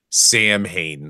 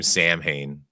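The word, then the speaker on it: Samhain: There's one with Sam Hain. They pronounce the character's name Sam Hain.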